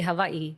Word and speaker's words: Hawaii: And over there like you could even say Hawaii, you know, like there's a V.